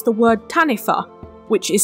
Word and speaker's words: Taniwha: about the Maori language wh is pronounced like an F in Maori which is why I'm saying tanifa instead of taniwa which I said last